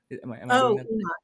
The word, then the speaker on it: Enoch: And I think another one, if I'm pronouncing this right, is Enoch. Enoch.